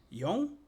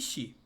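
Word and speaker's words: 四: Ele tem basicamente duas pronúncias, tá? Yon e xi, tá? Normalmente nós utilizamos y por quê? Porque Xi tem a pronúncia do canji de morte.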